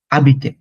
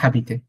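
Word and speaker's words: habiter: হ্যাঁ, আবিতে, it's called আবিতে, নট হাবিতে।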